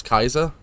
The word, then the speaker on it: Caesar: it's not technically well it's pronounced Caesar salad but like his actual name was Kaiser if that makes sense okay that's how it's pronounced the old Roman Tong it's stupid